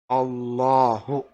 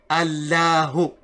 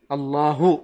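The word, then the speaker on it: الله: And also this lam in the middle, it is not like the same lam we would normally say. So you don't say Allahu. No, this lam has a different sound.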